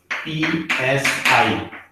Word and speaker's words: psi: So the wave function psi, this is psi, pronounced as psi, the wave function psi।